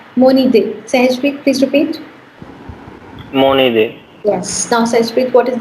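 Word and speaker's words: mon idée: Don't forget to transfer the sound, please. What will it become? Haji? Monide. Yes, that's right. So that's Moni day. Sahajpreet, please repeat. Monide.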